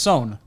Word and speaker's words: Swen: I believe it's pronounced Son. So, okay. Yeah, you did a video on it. I did a video on well then. Okay. So I'm pretty sure it's pronounced Son.